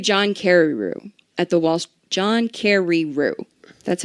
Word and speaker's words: John Carreyrou: But he knew John Carreyrou at the John Carreyrou.